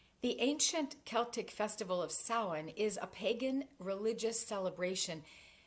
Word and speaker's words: Samhain: bonfires and costumes and even though the word looks like a man's name it's pronounced Sawan this holy day is